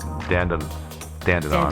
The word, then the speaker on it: Dandenong: Actually, they're like the Australians are like the Brits, and so it's probably pronounced dong.